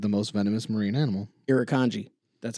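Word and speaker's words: Irukandji: jellyfish is considered the most venomous marine animal irikanji that's how it's pronounced just so you know also that's not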